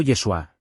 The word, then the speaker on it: Yeshua: alrededor del siglo XV en hebreo el nombre del Salvador se pronunciaba más parecido a yausha o yeshua que tiene un significado importante